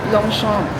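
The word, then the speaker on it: Longchamp: Ano daw tamang pag-pronounce ng long champ? Long shop. Long shump. Long shumpom. Long shom. Tama ba? Long shom. Paano mo nalaman? Syempre French. Ano yan eh?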